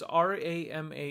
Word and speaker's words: Rama: So you get R long A M A. You pronounce that as Rama.